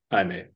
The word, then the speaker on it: Jaime: and also really glad that they're calling him Jaime, Yeah. which hopefully no one in the trailer or movie actually calls him Jamie because his name is Jamie Reyes, but it's pronounced Jaime.